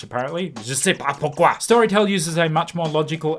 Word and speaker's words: Storytel: And we're talking about Storytel, 1L, or if you're pronouncing it in the original Swedish, Storytel.